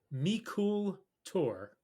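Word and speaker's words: Meikle Tòir: and the brand name is say it it's pronounced meol tour two words m e i k l e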